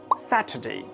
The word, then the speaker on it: Saturday: In British English, it will be Saturday. Saturday. R is silent here.